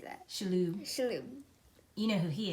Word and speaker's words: Shalhoub: Shalhoub.